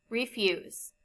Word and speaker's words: refuse: are two syllables in refuse in the second syllable the vowel u is followed by the consonant s and e the final e is silent and the u before it has a long sound define our homework assignment